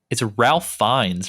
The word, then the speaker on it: Ralph Fiennes: It's Ralph Fiennes, right? Rafe Rafe. Fiennes. Rafe. Fiennes. That's right. Okay, I knew that the name is always screwed up.